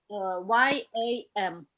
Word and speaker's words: yam: It sounded like you were mispronouncing jump. Yeah. Yeah. It's yam. Again, that ass sound. Yam. Yam. Yam. Yam. Yam. Even wider, Jonathan. Open your mouth even wider.